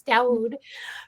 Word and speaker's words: Dawud: grandmother always called him dawud and which is the syrian pronunciation the arabic pronunciation of it and um so that